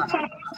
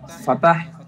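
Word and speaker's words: فتحة: স্যার আমি তো ফাতহা পড়েছি। বুঝিনি আপনার কথা আনিসা। স্যার আমি ফাতহা পড়েছি। ফাতহা, সমস্যা আমরা নেই। তাই পড়ছি ফাতহা। মা। ফাতাহ বা ফাতহা পড়েন, সমস্যা নেই।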